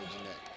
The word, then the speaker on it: Jeanette: We were told a few games ago that he pronounces it Jeanette. I always called him Janetti as well. I thought that's what it was, but he said Jeanette. So I guess the correct pronunciation is Ricardo Jeanette.